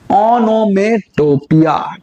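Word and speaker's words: onomatopoeia: device को जीतना है इसकी जो करेक्ट प्रोनंसिएशन है वो है नोम टोपिया क्लियर तो यहां पे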